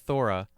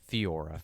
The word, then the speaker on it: Theora: Theora. Theora Jones. Yeah, so it's spelled Theora, not Thora, Theora.